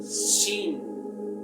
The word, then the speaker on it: Shin: Porque con estos dientes decimos Shin, y para decir el nombre de la letra tenemos que soplar muy fuerte. Inténtelo conmigo. Shin. Una vez más. Shin. Tenemos que soplar a los dientes de enfrente para poder pronunciar la letra.